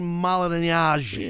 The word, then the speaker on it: Malignaggi: Paulie Malignaggi. I say it right? Come on, say it right. Paulie Malignaggi. Paulie Malignaggi.